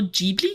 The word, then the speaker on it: Ghibli: Studio Ghibli, is that how you say it?